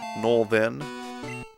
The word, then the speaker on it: northern: will get at it Northern is not Northern it's more like norn Northern north northern what